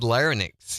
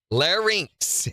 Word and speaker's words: larynx: which is what always said I've always said linix your linix talking about in your throat it's links the more you know I was so ashamed larynx is the way you pronounce that and I'm